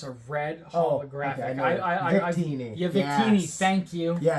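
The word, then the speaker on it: Victini: So there's a red um vincity. I'm pronouncing it incorrectly. I'm very bad at pronouncing that one. um card in it and it's a red holographic. I I Vikini.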